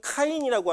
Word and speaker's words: 가인: 먼저는이 가인의 개보를 보시면이 가인이라고 하는 첫 번째 장자였죠. 근데 그가 이제 처음에 하와가 야 내가 여호와를 낳았다라고 얘기했을 때 그 기대감이 무너졌죠. 무너져서이 가인이라고 하는 히브는 카인이라고 하는 발음인데이 뜻이 뭐냐면 대장장이 어둠 소유라는 뜻이에요.